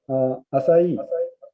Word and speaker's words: Asai: Asai is spelled is ASAI, quite similar to the Asia.